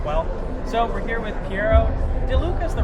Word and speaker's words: Piero De Luca: us up as well so we're here with pi DeLuca is the right way to pronounce it I haven't been doing it wrong